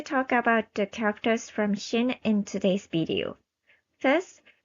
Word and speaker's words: Xing: Exactly the same pronunciation as the fictional country name Shin in its original Chinese pronunciation. However, it seems to sound closer to Chin.